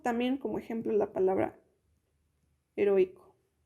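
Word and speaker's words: héroïque: Y tenemos también como ejemplo la palabra heroico, que se pronuncia como heroic. Esto va a permitir, estas diéresis van a permitir que, por ejemplo, aquí si no tuviera las diéresis, lo tendríamos que pronunciar como si fuera una U con una A. Sin embargo, como están las diéresis, eso va a separar las vocales y va a permitir que nosotros los pronunciemos separados.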